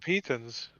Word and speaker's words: piton: pitons, do you have pitons? You could just try scaling it. with Yeah, no he's rope. got pitons. Why are you guys yeah, I saying don't- Peyton?